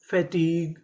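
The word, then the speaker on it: fatigue: टी आई T fatty ji यू ई ग फैटीग फैटीग तो चारों मीनिंग क्या बनी मोनोलॉग कैटलॉग कलीग फैटीग।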